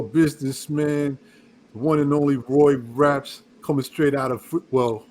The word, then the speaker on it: Rapx: So we have none other than Roy Raps. The X is silent.